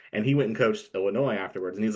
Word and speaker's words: Illinois: I'm from Illinois, not Illinois. Okay. Right. So I understand the pronunciation.